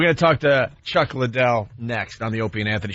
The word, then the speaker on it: Liddell: mispronouncing Chuck's last name it's not Lidell it's Liddell sorry Scott call him